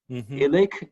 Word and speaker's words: Illich: Illich is I-L-L-I-C-H. Okay. He taught at it's Tillich without the T.